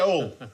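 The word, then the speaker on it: Hull: Beverly go see near all all pronounce pronounce without H not all all of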